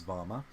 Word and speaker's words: VAWMA: an acronym um and we pronounce it as vama uh and uh vamma